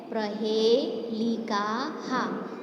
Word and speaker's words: प्रहेलिका: इसका प्रोनाउंस होता है प्रहेलिकाहा। ये जो पीछे डॉट है उसको ह प्रोनाउंस करते हैं।